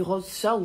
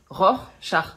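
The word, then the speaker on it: Rorschach: Non, vous avez dit rose, char. Je je veux pas le savoir mais on dit ror, char.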